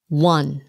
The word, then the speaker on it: one: One. One. Không phải là one. Nhiều người thấy chữ O họ muốn one. But it's pronounced like W-O-N. One. Like I won. It's the same pronunciation. One.